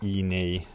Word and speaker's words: E-Ne: very easy to operate i think you pronounce it e nay as mentioned here and the model number